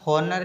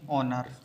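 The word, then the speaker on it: honour: जैसे एक वर्ड होता है इसको अपन हॉनर नहीं पढ़ेंगे, इसको अपन पढ़ेंगे ऑनर।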